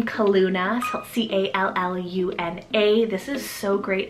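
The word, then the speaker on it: Calluna: the gods next one here is the name kaluna c-a-l-l-u-n-a this is so great if you want that nickname callie or nickname luna and kaluna is actually a floral name from the heather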